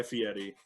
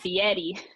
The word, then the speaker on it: Fieri: I'm indebted to Guy Fieri. You said Fieri. Yeah, I know. Right. Yeah. And with that proper pronunciation. Yeah, that's the right way to say it.